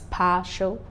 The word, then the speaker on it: partial: TIAL is stressed on the second syllable from behind. Words like consequential, partial, that's partial, all right, second syllable, partial.